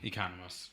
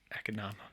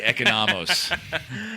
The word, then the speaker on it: Economos: last name is economos yeah economist not economical i'm going to pronounce it in the greek way and say economist ronnie go ahead i